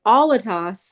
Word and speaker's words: Alattas: dave wilton and alatos is that how you say it like i've never had to ask you that most people never say my last name olatos like albatross and we all